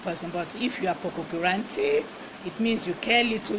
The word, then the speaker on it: pococurante: And it is Pococurante. Pococurante. It is spelled P-O-C-O-K.